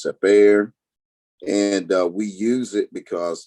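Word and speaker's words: Cepher: the seifer or sapir it spells c-e-p-h-e-r uh some people call it seaford because it's a little bit easier to say safer but its actual pronunciation is separa and we use it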